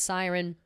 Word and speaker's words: SYRN: Also, the name of it, SYRN, pronounced siren.